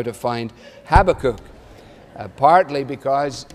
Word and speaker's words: Habakkuk: find Habakkuk, partly because you don't recognize it as Habakkuk because you call it Habakkuk. And I have been walking around for a significant part of this week trying out both pronunciations, Habakkuk, Habakkuk. And I have to have that pause before I do the American one. Because I can't do it, and so I'm sticking with my one.